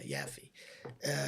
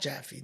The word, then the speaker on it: Yaffe: Jaffe, yeah, Yaffe. Not Jaffe. Jaffe's a different family. They pronounce it Yaffe. It's written with a Y.